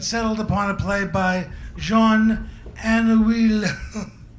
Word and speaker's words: Jean Anouilh: upon a play by Jean Anouilh. I looked that up and that's how you say it.